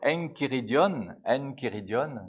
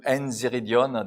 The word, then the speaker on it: Enchiridion: Especialmente no tratado de catequese de Sant'Agostino que se chama Enchiridion no grego, ou Enziridion, depende da pronúncia.